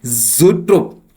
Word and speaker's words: zoetrope: Now let's move to आवर 24th word, which is ज़ूट्रोप। Okay, our 24th word is ज़ूट्रोप, जिसका spelling है ZOETROPE, ZOETROPE, ज़ूट्रोप, और इसका हिंदी में मतलब हो गया दृश्य भ्रम यंत्र।